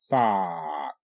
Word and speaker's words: thought: okay it's a drought thought th a thought thought g h is silent and the o u